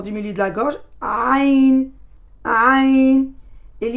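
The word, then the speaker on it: ع: Le point de sortie de cette lettre, c'est le milieu de la gorge.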